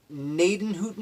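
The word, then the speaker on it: Gnadenhutten: probably mispronouncing this the naiton Hooton massacre I believe that gee at the beginning is silent but there was a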